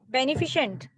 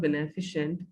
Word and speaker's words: beneficent: before omnipretend this word beneficent okay well as i said earlier this word is not beneficial the word is beneficent okay the right pronunciation of this word will be beneficent okay well my child